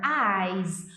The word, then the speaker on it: eyes: Eyes. Um sonzinho de Z no final.